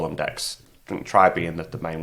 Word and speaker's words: deque: left and right I'm just of a different DQ so a different deck I should say sorry I fall into that